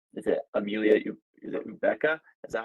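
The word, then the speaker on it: Egbuka: stoud and um is it Amelia is it ubca is that how you pronounce it um Uka Uka thank you um and then Henderson of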